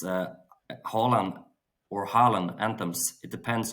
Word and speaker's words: Haaland: It's Haaland or Haaland Anthems.